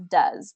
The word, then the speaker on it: does: the spelling it should be do but we pronounce it as does does he want to come does she does